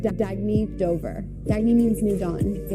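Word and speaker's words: Dagne Dover: good you can live life intentionally oh it's pronounced dagy Dober dagy means New Dawn a new dawn for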